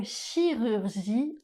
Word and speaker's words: chirurgie: Dans le mot chirurgie, on utilise le son /y/. Une petite astuce pour réussir à bien prononcer ce son vous allez placer la bouche comme si vous vouliez dire le son /o/ et en gardant la forme de la bouche, vous allez essayer de prononcer le son /i/ ça va donner ?